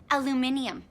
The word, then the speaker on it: aluminium: And hell, we're even pronouncing it wrong. It's actually aluminium.